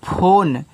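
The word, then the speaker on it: phone: से आपका न देखो फोन हो गया इसका उच्चारण नहीं होता ये आपका बच्चों साइलेंट होता है क्योंकि इंग्लिश की जब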